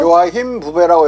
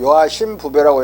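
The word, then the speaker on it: Joachim Bouvet: 17세기 초 데카르트와 17세기 말 요하심 부베가 다니기도 했던 예수의 소속 요하힘 부베라고 읽으면 독일말로 읽는 거고, 요하심 부베라고 읽으면 불어야. 이 사람 프랑스 사람이야.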